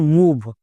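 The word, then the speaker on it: move: জন্য ভষের ই silent M ওভি এর সঠিক উচ্চারণ মুভ একে ভুল করেও কেউ মা এরকম উচ্চারণ করবা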